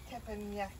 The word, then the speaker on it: teppanyaki: Over here we've got on the teppanyaki. Have I pronounced that correctly? No, you've confused me. Teppanyaki, there's the box. It's teppanyaki.